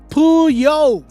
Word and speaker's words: Puyo: he's formerly known as Ross Servant, pronounced Puyo.